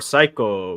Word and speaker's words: Psycho: S is for Psycho because the P is silent.